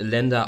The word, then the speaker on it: LNDR: Das Ganze wird Lender ausgesprochen. Lender ist das englische Wort für Kreditgeber. Geschrieben wird es tatsächlich LNDR.